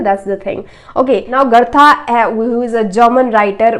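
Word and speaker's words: Goethe: So this is pronounced gerta not go.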